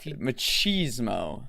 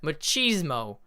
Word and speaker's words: machismo: machismo which is a machismo machismo like pronounced with cheese in the middle yes like like the